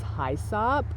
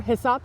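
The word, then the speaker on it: hyssop: a little bouncy um this is high sop or hysop depending on how you pronounce it I suppose aficionalis this is a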